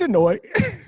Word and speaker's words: Anoa'i: I don't think Aaron knows how to pronounce it either. It's Anoa'i.